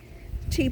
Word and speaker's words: ti: with what i have tea plants that's ti but it's pronounced like the tea we drink and uh they were